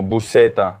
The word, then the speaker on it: buceta: The first syllable is boo, like an arrow.